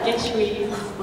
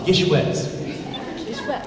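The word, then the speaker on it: GISHWHES: That's how they pronounce it across the pond. It's Gishwes. Okay. But I've never heard anyone else pronounce it that way. But that's how I pronounce it. When you invent a word, I think that you are allowed to say how it's pronounced.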